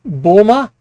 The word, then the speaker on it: Bulma: Um, Fitz Choso is guessing Bulma. Uh, I pronounced that wrong.